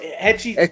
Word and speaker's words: Hechicero: Asicero, I think. He's from CMLL, right? I think. I have no idea, bro. Yeah, I think so, right? He's a luchador, but Hechicero. Remember, you don't pronounce the H.